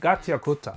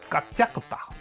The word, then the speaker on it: Gachiakuta: It's not Gachiakuta, it's Gachiakuta, I think, or something like that.